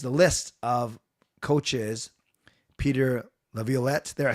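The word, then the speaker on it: Laviolette: Peter Levlet, there I said it right.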